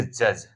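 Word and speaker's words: judge: उच्चारण नहीं होता है देख लेंगे आप डी के बाद जी आएगा अगर कहीं भी तो उसमें हम डी को जो है साइलेंट कर देंगे डी का उच्चारण नहीं करेंगे जैसे बी आर आई डी जीी ई इसको पढ़ेंगे ब्रीज ब्रिज मतलब पुल होता है पुल और अगला पढ़ेंगे जे यू डी जीई इसको पढ़ेंगे जज जज मीन सबको मालूम होगा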